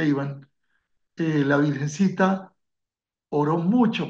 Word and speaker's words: Ivan: en la aparición con Iván Ivan se pronuncia Ivan eh la virgencita oró